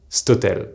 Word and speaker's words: cet hôtel: words like this hotel, cet hôtel, being pronounced stotel. The thing is that while by itself it may sound strange, stotel, in a longer sentence it flows quite nicely.